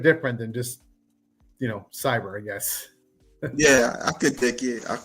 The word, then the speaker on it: Xyber: This is KLA Cloud the Wanderer and what you see was the introduction of my guest illustrations of cyber comics. if I'm pronouncing that right.